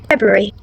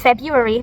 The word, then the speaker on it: February: down during the repart then the correct pronunciation would be February February so unlike the incorrect one which is February this time we're pronouncing the R so it becomes February now here we can